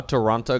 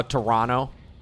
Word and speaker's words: Toronto: is pretty fun how Toronto got addicted to Cars Sorry I mean how Toronto I pronounced the T the second T and no no sorry